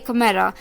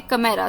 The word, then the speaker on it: chimera: Word था, कमेरा, CHIMERA, कमेरा। H silent है इस वर्ड में, कमेरा, CHIMERA, कमेरा, यानी कि समथिंग और